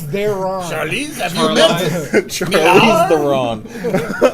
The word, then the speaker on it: Charlize: Charles Theron. Charlize, have you met?